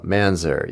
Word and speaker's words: Manzer: for anyone really um spell her name correctly pronounce it correctly okay Linda m a